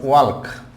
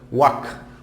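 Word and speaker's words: walk: তারপর হচ্ছে ওয়াক নট ওয়াল্ক, ওয়াল্ক নয়, নট ওয়াল্ক, ওয়াক, ওয়াক, ওয়াক, এটি।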